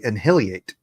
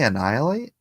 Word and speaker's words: annihilate: He would say inhiliate. And I'm like, "Are you trying to say annihilate?" He's like, "Is that how that's pronounced?"